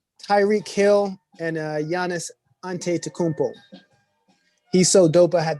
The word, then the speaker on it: Antetokounmpo: europe in 2020 tyrique hill and uh giannis antetokounmpo he's so dope i had to learn how